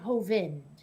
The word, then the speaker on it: Hovind: i'm like you know i could see that if there was an e on the end of it but it's clearly hovind yeah that seems if